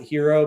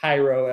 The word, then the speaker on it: Hiero: And sometimes people pronounce it hero, but it's actually Hyro as in hieroglyphic.